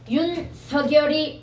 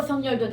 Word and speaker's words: 윤석열: 서결이가 맞지만 이름이니까 마음대로 쓰세요 이랬단 말이야. 이름이니까 마음대로. 그래서 서결도 되고 성렬도 된다.